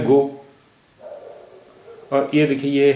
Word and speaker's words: गौ: आवाज क्या हो जाती है यह तो है गो और यह देखि यह है कौड़ा गौ इसका उच्चारण हो गया गौ कौन कौन रौनक रौनक